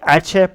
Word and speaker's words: Aceh: i'm pronouncing this right aceh province yeah i think it's at your province this is the province where all the fucking islamic shit shit happens in indonesia okay it's the atcha province some i can't